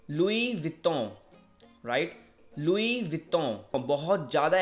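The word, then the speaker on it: Louis Vuitton: तो इसको आप प्रोनाउंस करेंगे लुई विटों, राइट, लुई विटों, लुई विटों, ठीक है।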